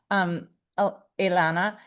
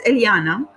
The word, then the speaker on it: Eliana: And I don't know if you'll have this experience, Ilana. Is it Eliana? It's Eliana. However, don't worry because I